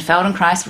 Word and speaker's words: Feldenkrais: the feldenkrais method and feldenkrais rhymes with nice and basically it's a